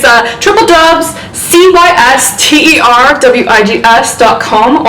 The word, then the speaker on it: CysterWigs: it's a triple dubs c-y-s-t-e-r-w-i-g-s dot com also known as cysterwigs that's how we like to pronounce that around these parts um so